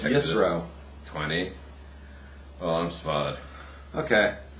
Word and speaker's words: Yitro: 18 let's at least say it right it's yro 20 oh I'm spot okay no you're you're